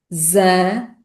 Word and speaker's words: exame: O que contrasta com a última letra E da palavra isame, que é pronunciada como e, o que significa que na fala rápida esse som e vai tendencialmente desaparecer. Então, sílaba a sílaba, esta palavra é pronunciada como exame. Exame. Exame.